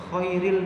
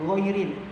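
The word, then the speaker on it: غير: Ada yang dibaca khairil maghdu, ada yang ghairil, yang benar.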